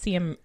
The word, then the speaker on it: Siem: and see I'm and I believe it is pronounced see him yeah okay if you